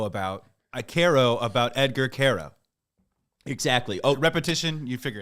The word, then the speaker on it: Quero: It is Care, like Care Bear, Care, O-O-H.